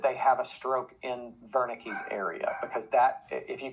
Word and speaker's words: Wernicke: the body surface okay so i always try to say it correctly in german so if anybody out there is german please pardon my terrible attempt at german we usually call it wernicke's area uh i've heard